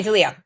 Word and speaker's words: Dileo: Is it Dio? Dio. Dooo. Yes. Okay. Dio.